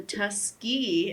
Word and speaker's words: Tuskegee: Washington founded the Tuskegee. Am I saying that right? Tuskegee. Yes, you're saying it right.